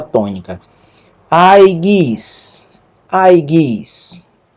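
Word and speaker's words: αι: é o ditongo áudio foi horta que se pronuncia ai ai e aqui abaixo nós temos uma palavra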